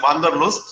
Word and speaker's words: Wanderlust: The German pronunciation for is Wanderlust, this Wanderlust that we call it.